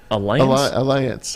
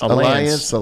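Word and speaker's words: Allianz: the best in the world is how you pronounce it Alliance Alliance Alliance it is it looks gorgeous one of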